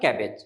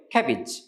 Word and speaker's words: cabbage: বানান অনুযায়ী উচ্চারণটা কি হয়? ক্যাবেজ, কিন্তু আসলে সঠিক উচ্চারণ হবে ক্যাবেজ। আমার সাথে বলুন, ক্যাবেজ, ক্যাবেজ, ক্যাবেজ।